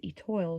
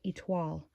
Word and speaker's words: Etoile: It's spelled Etoile, and I've been mispronouncing it for years as Etoile shopper, but it's actually pronounced Etoile. That's French for star.